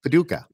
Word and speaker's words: Paducah: We're in Paducah, Kentucky. Paducah. How do you say it? Paducah.